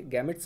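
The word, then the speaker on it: gametes: ठीक, बाकी आप समझ लीजिए गैमेट्स भी कहते हैं कुछ लोग और कुछ लोग जेमेट्स भी कहते हैं। ब्रिटिश एक्सेंट और अमेरिकन एक्सेंट होने की वजह से ये थोड़ा सा प्रोनाउंसिएशन चेंज रहता है, अक्सर मैंने देखा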